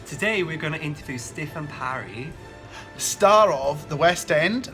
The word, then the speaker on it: Stifyn Parri: Today we're going to interview Stifyn Parri.